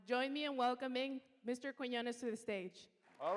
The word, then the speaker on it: Quiñones: And thank you, Paola Fernandez, for pronouncing Quiñones so well. It's not the easiest name to pronounce. I've been called everything from Quinones to Quinones.